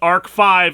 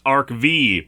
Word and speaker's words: Arc-V: And yes, I discovered by watching this that it's pronounced Ark 5 and not ArkV.